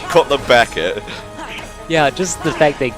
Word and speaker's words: Cutler Beckett: I don't want to say his name wrong again, because I think I said it was Cutler Bucket last time. Cutler Bucket! Cutler Beckett.